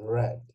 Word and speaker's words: read: read i read yes the past tense of read should be pronounced as red right i read okay let's